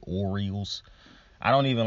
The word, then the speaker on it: Orioles: name to pronounce because I used to pronounce them the Aerials now and I figured out how to pronounce it Orioles I don't even like